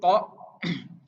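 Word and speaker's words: ط: Nah, untuk huruf to itu pelafalannya jangan keliru ya. Jadi ini bagian so, do, to, zo itu memainkan angin di bagian pipi.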